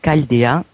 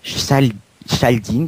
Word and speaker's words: Chaldeen: précisément tout ça petite histoire donc ça se prononce bel et bien Caldea calde 1 pardon et non chaldine comme certains ont coutume de faire voilà euh